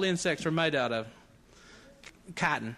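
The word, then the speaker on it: chitin: that's what all insects are made out of kotton it's the shells the body beetles roaches butterflies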